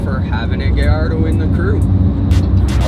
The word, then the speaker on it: Gallardo: Can I call it a Gallardo? I know that's the accurate. I'll call it Gallardo. It's pronounced Gallardo.